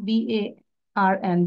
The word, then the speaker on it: barn: So cow, calf, barn is R এর উচ্চারণ হবে না, BARN, barn.